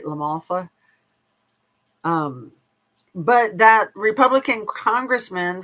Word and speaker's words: LaMalfa: Doug Lamalfa, it's weird because it looks like mafia but it's Lalfa. Am I saying it right? Lamalfa.